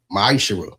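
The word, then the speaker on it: מעשר: You find this in the book of numbers 18 21 the book of Malachi 3:8-10 means 10th in Hebrew and it's pronounced misher.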